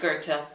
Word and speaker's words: Goethe: This music was composed for Goethe, pronounced Goethe, but spelled G-O-E-T-H-E.